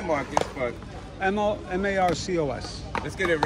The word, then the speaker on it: Marcos: She said Marcos. I'm not ratting her out. She mispronounced it. No, they call me Marcus, but M-A-R-C-O-S.